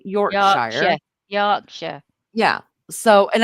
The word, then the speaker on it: Yorkshire: So, and I think the reason why I say Yorkshshire and all Americans say Yorkshshire is again it's phonetics because we were taught that's a large that is a big I because it has an E at the end.